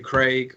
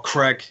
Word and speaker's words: Craig: squad's back boy um paul badu craig or craig if you're american i know you guys pronounce it differently um this is a